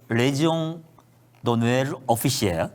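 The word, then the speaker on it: Légion d'honneur officier: 이 송영길 씨가 프랑스의 레지옹 노엘 오피시에 제가 이제 프랑스 특파원 출신이니까 정확한 발음으로.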